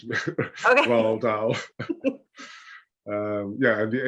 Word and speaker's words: Roald Dahl: And so it's Roald Dahl, but I want to say Ronald Dahl. No, it's just Roald Dahl. Okay, so So yes, it sounds like the D is silent. Roald Dahl. Yeah. Okay. I think it's just very, very slightly there. You know, you have to sort of speak in a bit of a posh English accent.